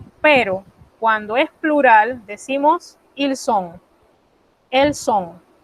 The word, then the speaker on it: ils sont: Pero cuando es plural, decimos ils sont, elles sont. Ven que de nuevo se encuentran dos S. A la hora de pronunciar, se pronuncia una sola.